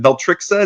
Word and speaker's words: Veltrixa: Is that how you pronounce it? You never quite know online, but Beltrixa, is that right?